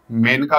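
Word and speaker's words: Maneka: आपको पता होना चाहिए मेन का गांधी केस स्पेलिंग मने का लिखते हैं उसको लेकिन बोलते मेनका है ठीक है मेनका गांधी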